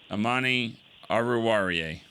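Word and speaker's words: Amani Oruwariye: So first, I want to ask before I forget, the young man that had the game-winning interception, how do you pronounce it? Ammani Awarier.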